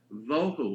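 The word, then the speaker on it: בֹּהוּ: Vohu would be V-O-E-W-H-O, tohu, vohu, waste, desolation.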